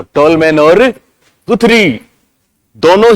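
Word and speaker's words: Guthrie: गुथरी के अनुसार, इनको गथरी भी बोलते हैं, वैसे गथरी इनका प्रोनाउंसिएशन होता है, पर गुथरी या गुथरी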